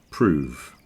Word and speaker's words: prove: The verb is prove with a V, so don't forget that's another pronunciation thing with a f and a v. Proof, prove.